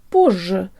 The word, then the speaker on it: позже: I'm and today I learn how to pronounce the word Borgia or later the fun thing about this word